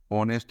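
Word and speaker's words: honest: ऑनेस्ट में भी ओ आ रहा है, यहाँ पर एन।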